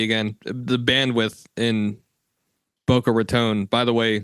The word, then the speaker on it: Raton: The bandwidth in Boca Raton, by the way, pronounced Raton, not Raton.